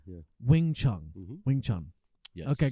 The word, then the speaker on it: Wing Chun: Wing Chun, yeah. Wing Chun.